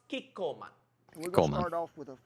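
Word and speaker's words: Kikkoman: pronounced the soy sauce Kiko man is that how you say it Shan Kiko man Kiko man so cute he make our soy sauce sound like super hero oh no the food tool plan who should we call man Uncle Roger have brother living in Japan I check with him it pronounced kikan we're start off with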